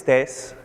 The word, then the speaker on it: Thijs: different countries so anyway my name is tess i imagine this is quite difficult to pronounce yeah it tastes like think of tasers cops and security agents days people well remember that and it'll be just fine i'm a technical evangelist